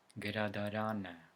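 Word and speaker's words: գրադարան: However, when we have the letter A at the end of the word, such as here, the stress falls one syllable before A. So it's pronounced gradaran, which means the library.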